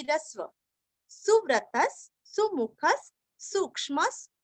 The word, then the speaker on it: सुमुखः: सुमुखः सुमु दोनों भी रस्व, सुमुखः।